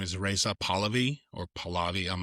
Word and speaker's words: Pahlavi: guy who's um I think his name is Reza Pahlavi or Palavi, I'm not sure how Yeah, he was the he was Yeah, Reza Pahlavi.